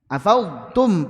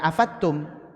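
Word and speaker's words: أفضتم: Afadtum pakai dad. Jangan afattum tapi afadtum.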